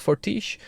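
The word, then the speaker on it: Fortiche: and they're called forti I believe it's pronounced fortish uh which which should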